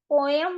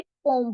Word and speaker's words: poem: अब पोम क्या है, POEM, पोएम नहीं बोलते, पोम बोलते हैं, इसका सही प्रोनाउंसिएशन पोम है।